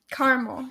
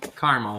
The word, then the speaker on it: caramel: I didn't know that how many syllables are in caramel caramel one two one two there's only two I have to say